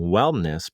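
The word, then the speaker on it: Whelmness: right before the break wellness productions and that's w-h-e-l-m-n-e-s-s if everybody's listening like why does he keep mis pronouncing the word wellness i'm saying wellness productions and jackie started that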